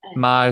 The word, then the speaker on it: Meagher: And Marr is spelled MEAGHER.